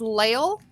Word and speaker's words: Lail: pronounce her last name I think it's lail maybe l-a-i-l anyways for those that